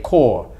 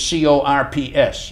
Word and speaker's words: corps: Now, the Air Force is different than the United States Army Air Corps, which is C-O-R-P-S. Mm-hmm. It's not corps, it's corps. No, corps.